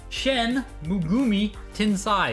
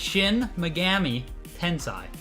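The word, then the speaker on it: Shin Megami Tensei: it was going so shen mugumi that's not how you pronounce it that that's not right it's shin megami tensai okay i'm pretty sure i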